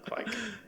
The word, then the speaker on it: kveik: I found is that you basically say it to rhyme with quake, as in earthquake, quake. So the V is more of a W, and the I and the E sort of roll in, so quake.